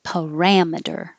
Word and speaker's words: parameter: And this one looks very similar, but it's RAM, parameter, parameter.